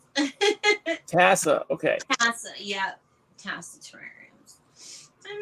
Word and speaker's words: TAS: to let you know everybody mispronounces it it's so funny it's Tassa terrarium Tassa okay Tassa yeah Tassa terrarium I'm not exactly